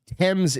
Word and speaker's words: Thames: It's not the Thames. Thank you. Thames is the pronunciation, is what Will said.